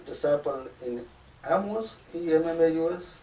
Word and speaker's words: Emmaus: Luke says 2 disciples in Emmaus, E-M-M-A-U-S, how do you say it?